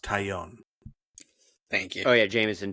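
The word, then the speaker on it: Taillon: It's pronounced Tyion.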